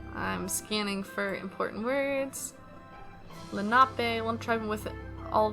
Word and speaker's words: Lenape: monoprive yeah tldr oh here we go uh pronounced lenape okay um let's see they have remotes they